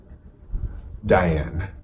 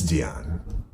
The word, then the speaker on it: Dion: with Diane why can't say her name right Diane Depp Dion Dion its Dion Dion okay my heads out of whack so